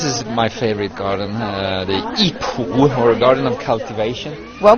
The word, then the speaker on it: Yipu: Well, there are 9 World Heritage Gardens in Suzhou, and actually this is my favorite garden, the Yipu, or Garden of Cultivation. Well pronounced.